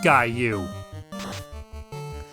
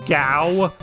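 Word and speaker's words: Gau: GA sounded funny but I still thought the name was pronounced guou as I got older though I kind of put a bit more thought into it thought into the story and the character in particular and it occurred it just occurred to me that GW just made more sense for the pronunciation of his name because it's probably not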